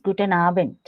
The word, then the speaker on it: Guten Abend: Good evening is Guten Abend. Mm. So D also. Whenever a word ends with D, it should be pronounced as T.